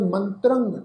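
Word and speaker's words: ਮੰਤ੍ਰੰ: दसन बिहून भुयंगंग मंत्रंग, ये जिहड़ा शब्द आ मम्मे दे उत्ते टिप्पी, तुसीं देखो तत्ते दे पैर विच अद्धा रारा, फिर उत्ते टिप्पी की मात्रा वा, तो इसका उच्चारण करांगे मंत्रंग, नासिक उच्चारण होएगा।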